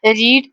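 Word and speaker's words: read: रीड रेड रेड तीन forms होती हैं रीड की। लेकिन वाली दोस्त यानी कि वर्ब की सेकंड और थर्ड फॉर्म है उसको हम पढ़ने में रेड रेड आता है। लेकिन स्पेलिंग तीनों के सेम होते हैं आर इ ए डी।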